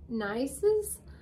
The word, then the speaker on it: Nycz: I don't know how to say this last name. Nices? It's NYCZ. Nice. I would go nice.